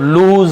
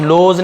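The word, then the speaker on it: lose: ना ब्रदर भाई don't लूज heart यहां पर भी लॉस लोज नहीं पढ़ेंगे लूज लूज पढ़ेंगे लिखा एलस ही है लेकिन लूज पढ़ेंगे लूज हार्ट का मतलब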